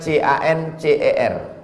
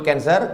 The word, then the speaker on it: cancer: darah menggumpal-menggumpal menjadi Cancer tulisannya c a n c e r orang barat membacanya Cancer orang kita susah menyebut kancer kenapa nih kanker maka menggumpal dia dalam